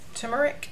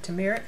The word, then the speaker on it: turmeric: This is detox with turmeric or turmeric, however you pronounce it. Some people say turmeric, some people say turmeric, just depending on where you're from.